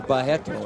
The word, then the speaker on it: Barreto: Or Barreto, as they pronounce it in Brazil.